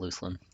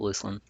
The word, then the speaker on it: Luclin: Still don't I still feel like I want to call it Luclin, but I believe it is pronounced Luckland.